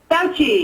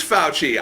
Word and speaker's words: Fauci: how do you pronounce your last name? Fauci. It is Fauci.